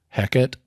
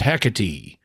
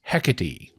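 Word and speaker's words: Hecate: personal thing I really hate the way they pronounce the word the name of the other ship heck it right because this is a Greek word this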